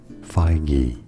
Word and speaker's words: Feige: is indeed the president of Marvel Studios Kevin feige so it is according to this guy yeah